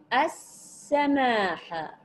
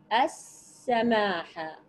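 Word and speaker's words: السماحة: بعد ذلك الى كلمه السماحه السماحه ما نوع الال الوارده في كلمه السماحه هل هي شمسيه ام قمريه ولماذا احسنتم شمسيه كتبت ولم تنطق وجاءت الحرف الثالث هنا مشددا اذا الشمسيه طيب ماذا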